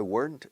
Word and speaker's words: weren't: If I weren't, si yo no fuera profesor de inglés, yo no estaría aquí delante de la cámara. If I weren't, británicos, if I weren't. Una sola sílaba con weren't.